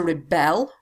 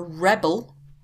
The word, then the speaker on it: rebel: had the verb to rebel you've got the noun a rebel so we pronounce these differently to rebel a rebel and here's the adjective